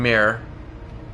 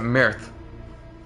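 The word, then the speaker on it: myrrh: ah gold frankincense in mirror for some reason I pronounced it Mirth yeah public opinion should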